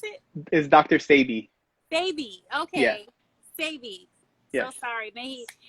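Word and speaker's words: Sebi: Sebede. And Sabi. how do you pronounce it? Is Dr. Sabi.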